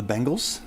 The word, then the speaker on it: Bengals: It is the Bengals. Bengals. Bengals. B-E-N-G-A-L-S. If you say Bengals, you're wrong. Oh, snap.